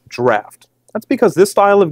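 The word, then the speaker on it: Draught: grip and leverage so what's the difference between drought and extra Stout so believe it or not it's actually pronounced draft that's because this style of Guinness is meant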